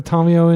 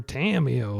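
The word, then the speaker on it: Tamiyo: going to put a tomio into play and I am making an effort to pronounce her the Japanese way even though I'm used to calling her tamio like a Texan all right uh so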